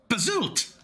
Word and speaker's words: Bazo: in my mind um how do you pronounce it again ah yeah great to see you again it's bazo of course phonetically DM and I am holding you to bazo Boba Bob ni sorry